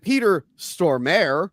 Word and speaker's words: Peter Stormare: And Peter Stormare, as I learned his name is pronounced while Crystal was, uh, out of the room.